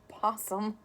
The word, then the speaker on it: opossum: It's possum, the O is silent.